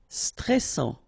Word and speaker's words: stressant: Stressant. Final T not pronounced. A-N together, en, and then double S. Sans. And it will open the pronunciation of your E, so E. Stressant. Stressant.